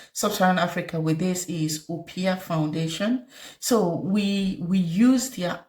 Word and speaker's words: Oppia: Opia is it's spelled OPPIA.